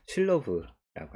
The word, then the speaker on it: Sylow: 어, 이게 우리말로는 슬로우라고 많이 부르고 있었고 아마 미국에서도 그렇게 발음을 많이 할 거 같은데 실제로 원어넘어인 발언으로 하면 슐러브라고 합니다. 그래서 실로브 정리를 증명해 보겠습니다.